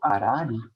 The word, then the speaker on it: Harari: déjà mort, qui s'appelle Roberto Harari, hein, dans la prononciation française, Roberto Harari.